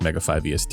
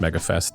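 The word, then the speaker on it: Mega5EST: butchered the name because it's not pronounced Mega 5 EST it's pronounced Mega Fest and I will not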